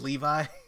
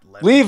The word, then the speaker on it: Levi: career path I think the name is Levi not leave oh I'm sorry hey